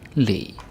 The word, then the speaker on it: le: Ske, se, le. Ske, se, le. Ske, se, le. Right? Just one syllable, like straight out the alphabet.